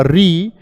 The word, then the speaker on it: ऋ: इसका उच्चारण होता है आपका री, क्योंकि यह आपका मिलकर बनता है रे प्लस छोटी ई से, रे प्लस ई। इसी को हम क्या बोलते हैं, री।